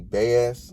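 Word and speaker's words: Baez: his opponent uh bass it's spelled b-a-e-z bass i know it's not biased um but yeah he's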